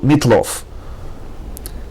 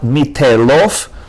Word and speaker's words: Mitlof: Mitlof. Not mitelof, but mitlof.